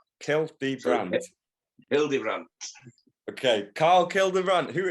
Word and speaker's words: Hildebrandt: It's as it's spelled. It's Hildebrandt. Hildebrandt.